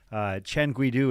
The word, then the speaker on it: Chen Guidu: That is Marco, our field correspondent, and I did, note that Chen Guidu is how we would pronounce the second place man.